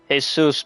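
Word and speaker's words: Jesús: Actually, as for Spanish, Jesus is pronounced as Jesus.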